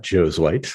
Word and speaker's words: Josuweit: the last name so it's spelled Joe's white so that's how it's pronounced just like like Joe is Caucasian Joe's wipes that's the easiest way to remember it there um and people